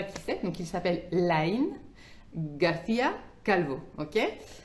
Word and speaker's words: Lain García Calvo: Donc, il s'appelle Lain García Calvo. Ok. Bien sûr, je vous prononce en espagnol.